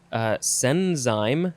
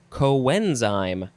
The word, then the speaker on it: coenzyme: want to pronounce it senzyme, or senzyme, but it says it is pronounced coenzyme. Coenzyme. So, yeah, the spelling is similar at the beginning, but it is the word co plus enzyme.